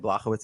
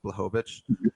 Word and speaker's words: Blachowicz: Jan Blachowicz I like saying Blachowicz, even though I know it's not pronounced right. It's Blachowicz.